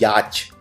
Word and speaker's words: yacht: छोटी छोटी नाव खरीदते हैं, उसको बोलते हैं यॉट। तो यॉट के अलग अलग वो हैं, कोई YOT लिखता है, कोई YAT लिखता है, लेकिन इसकी स्पेलिंग बहुत ही अलग है। इसको हिंदी में बोलते हैं याच, छोटी नाव।